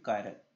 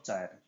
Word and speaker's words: chiral: सबसे पहले इसकी प्रोनाउंसिएशन होती है कायरल, नॉट चायरल, ठीक है। चायरल बोलते हैं कई बच्चे इसको, तो कायरल होता है। जो आपका सी होता है उसकी जो प्रोनाउंसिएशन होता है वो के की फॉर्म में होता है यहाँ पे, तो इसको क्या बोलते हैं, कायरल, कायरल कार्बन, ठीक।